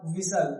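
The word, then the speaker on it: whistle: लिखा हुआ है क्या विसल क्या विसल विसल विसल तो यहां भी क्या है टी साइलेंट और विसल का मतलब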